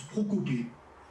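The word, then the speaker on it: προκοπή: le mot progrès, en grec, c'est le mot prokopé. Comme ça se prononce, prokopé.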